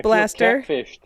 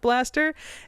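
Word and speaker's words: B'laster: me so it's pronounced Blaster and it's pronounced Blaster and uh the apostrophe doesn't mean a damn thing and if I if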